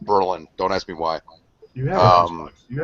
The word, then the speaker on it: Berlin: __ ] Berlin Wall Berlin if you're from Ohio it's pronounced Berlin don't ask me why